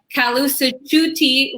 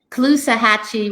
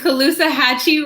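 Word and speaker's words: Caloosahatchee: and red tide so your district includes the kalu tutti river parts of lake i definitely pronounced that wrong what was it the clue hatchy river and okeechobee lake okeechobee and colusa hatchy river correct and uh so those hold uh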